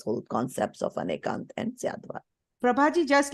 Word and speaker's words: Syadvad: Anekant as well as Syavad, however you pronounce it. Syadvad.